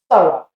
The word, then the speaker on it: thorough: But that's not how we pronounce that word. We say thorough.